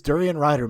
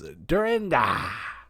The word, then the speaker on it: Durian Rider: Prof says, it's Durian Rider, mate. Get it right. Or as he pronounces, Durinda.